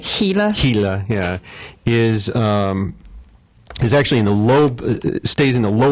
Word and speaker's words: Gila: the actual Gila lizard, Except they pronounce it Gila.